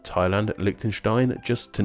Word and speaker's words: Thailand: here our name explain that H is silent in the names of the nations of Bhutan Ghana Thailand Liechtenstein just to name